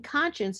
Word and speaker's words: conscience: like science and science you can hear the s CI which is the base which means to know K you know in conscience it practically disappears not in not visibly but in the pronounciation same thing for conscious